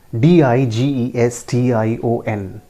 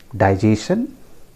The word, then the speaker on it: digestion: Spelled as DIGESTION। डाइजेशन? नो, आई am sorry, that is नॉट the correct pronunciation. It is pronounced as digestion. Digestion, you can see the phonetic symbol. It is pronounced as digestion.